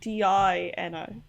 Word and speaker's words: Dino: town this person spelled the name d-i-n-o so uh yeah it says my name is pronounced dino that's enough of that